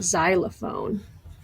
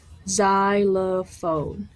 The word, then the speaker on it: xylophone: see a p and you see an H but you don't it's not xylophone you don't hear a PA you don't hear the